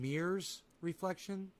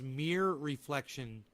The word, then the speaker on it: Mere Reflection: this is from mir am i saying mirrors reflection oh my god it's mere reflection dot com i'm an idiot mere